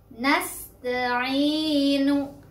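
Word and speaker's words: نَسْتَعِينُ: Ya sukunnya kita cari dulu. Ya sukunnya ada? Ada. Ya sukun sebelumnya ada huruf berbaris kasrah yaitu ain. Nah, ainu itu mad tabi'inya. Jadi sudah memenuhi syarat mad tabi'i, bacanya dua ketukan.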